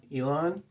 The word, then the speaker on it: Elan: pub there it is i think it's pronounced elon um it's what it